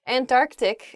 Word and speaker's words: Antarctic: ah oh i see antarctic is the correct pronunciation of this word some people say and and tart antarctic really oh i guess when you're saying this word quickly you might leave out that first sea in the antarctic